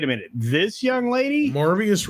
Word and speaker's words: Morbius: minute this young lady marvius rhymes with glorious spiders it is totally